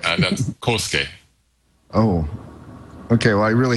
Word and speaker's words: Kohsuke: And I'm sorry, I've been mispronouncing your name for almost 3 months now, but it's Kohsuke.